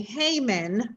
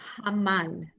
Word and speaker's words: Haman: Actually, and I know that we say Haman, right? But it's Haman.